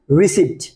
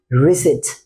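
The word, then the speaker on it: receipt: যে পি টা রয়েছে এই পি টা কিন্তু একটা সাইলেন্ট লেটার সো এখানে মাথায় রাখতে হবে এর উচ্চারণটা হবে কি রিসেট কি হবে রিসেট রিসেট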